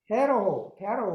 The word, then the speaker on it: Pharaoh: Pharaoh. 오케이, 페라오. Pharaoh. 네, 페로 맞습니다. 페로. 네.